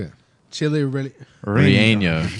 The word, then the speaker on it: relleno: It's like a Y sound, isn't it?